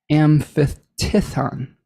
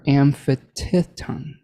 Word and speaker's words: aphthiton: Kleos amphitithon, or amphitithon, APHTHITON, and kleos is spelled KLEOS.